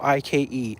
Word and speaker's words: Ike: Ike, the cat's name is 1 syllable, I-K-E, Ike.